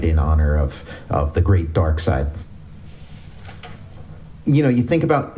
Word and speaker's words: Darkseid: But I was thinking, you know, some people mispronounce Darkseid and call him Dark Seed, and I thought, like, ooh, what if I name this guy Sharkside?